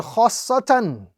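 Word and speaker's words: خَآصَّةً: So first stretch, join, emphasize, and then complete the word. So the correct pronunciation of this example is khassatan, khassatan.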